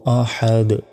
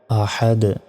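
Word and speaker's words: أَحَدْ: এই যে শেষ অক্ষর এখানে শেষ অক্ষরের উপরে একটি সাকিন দিয়ে উচ্চারণ করতে হবে তাহলে উচ্চারণটা হবে হাদ আল জবর হাদ আহাদ কুলহু আল্লাহু আহাদ অর্থ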